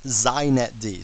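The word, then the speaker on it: xinetd: me just say a couple things first it's pronounced zet D so if you want to be hip you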